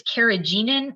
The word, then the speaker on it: carrageenan: what did you call it cartidium carriage it's carrageenan it might be it might be said like